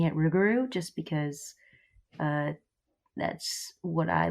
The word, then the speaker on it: Rougarou: are called the Rougarou, or I will be pronouncing it Rougarou just because That's what I learned, but there's a few pronunciations.